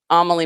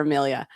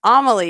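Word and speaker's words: Amelie: these amaly Morgan God I just really want to call her Amelia so bad but it's amaly you guys so or if you're British Amal I can't help the British pronounce things wrong so it's so malabuyo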